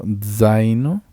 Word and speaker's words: zaino: el italiano, recordarás que la Z se lee como si fuera una D y una S. Lo zaino, lo zucchero y lo zio.